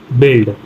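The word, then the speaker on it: build: कब साइलेंट होता है यू के बाद कोई भी वावेल आ जाए तो यू साइलेंट होता है कोई भी वावेल आ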